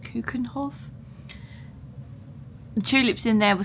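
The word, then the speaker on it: Keukenhof: But the tulips actually in, I think it's pronounced Kuekenhof.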